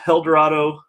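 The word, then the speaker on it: Helldorado: basically they took their eldorado and no i'm not mispronouncing that it's h-e-l-l dorado uh blonde barley wine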